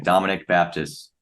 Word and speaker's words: Dominic Baptist: pronounce it Dominic Baptist exactly how it sounds that's how uh you pronounce the full name Dominic Baptist perfect so Dominic um